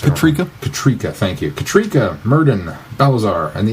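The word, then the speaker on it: Katryca: How was it pronounced? Katrika? Katrika, thank you.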